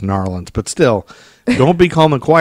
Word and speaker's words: New Orleans: I think it's pronounced Narlands, but still, don't be calm and quiet.